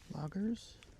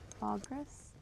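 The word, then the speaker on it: Logres: Logris. Logras. L O G R S. Loggers. No. L O G R E S Logris.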